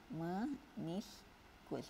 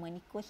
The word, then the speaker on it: meniskus: Namanya aras meniskus. Bukan menikus ya.